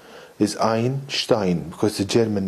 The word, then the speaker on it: Einstein: I I believe that the connect the correct pronunciation is Einstein because a German name so anyway this Bose